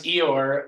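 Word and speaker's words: EOIR: office for immigration review which we do pronounce Eeyore like the Winnie the Pooh character because it's a huge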